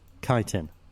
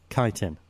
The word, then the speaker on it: chitin: Chitin. That's how you say it. You hear that? Chitin.